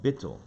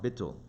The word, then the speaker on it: bittul: holiness is something called bittul. I guess you could spell it B-I-T-U-L, bittul.